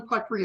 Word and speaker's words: Puttree: As Jim said, my name is Puttree. It's pronounced putt is in the golf shot and tree is in forest.